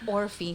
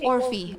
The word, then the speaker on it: Orfy: my name wrong so I just say orphe or FY and I always like